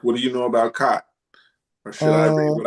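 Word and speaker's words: khat: Uh, cot cot and spell it k h a t.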